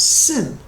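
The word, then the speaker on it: שִׂין: it's pronounced shin and the second one has a dot on the left it's pronounced sin so when the rebbe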